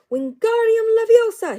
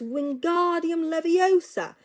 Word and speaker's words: Wingardium Leviosa: having much more luck wingardium laosa he shouted waving his long arms like a windmill you're saying it wrong Harry heard Hermione snapped it's Wingardium Leviosa make the guard nice and long you do it then